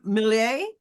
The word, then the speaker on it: Milei: Now, you can correct any of my pronunciation of their name, but I believe it's Javier Milei. Javier Milei, yeah.